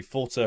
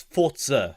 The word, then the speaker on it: Forza: Forza Horizon 5. Am I pronouncing it correctly? It's Forza, not Forza.